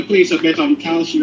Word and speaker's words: Kalshi: Don't feel bad about thinking that Kalshi was Kaushi. I thought so too. I thought it was That's what I thought, bro. But it's Am I the only one? It's Kalshi, KALSHI, but people pronounce it Kaushi.